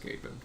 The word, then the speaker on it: Skaven: It's gonna be pronounced Skaven.